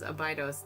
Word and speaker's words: Abydos: When I looked on Wikipedia, the pronunciation was Abydos. That's how I've said it my whole life.